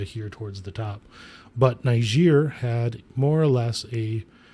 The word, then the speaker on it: Niger: Basically, what has happened recently is in Niger, the That's French. Not how you pronounce it? How do you pronounce it? don't you make me? You can't say it with an A.